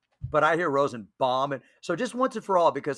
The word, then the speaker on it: Rosenbaum: all just so we have this i you pronounce it rosenbaum but i hear rosen bomb and so just once and for all because